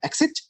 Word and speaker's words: Xist: Okay, so this contains a gene called the exist, which is pronounced an exit, which encodes a non-translated RNA.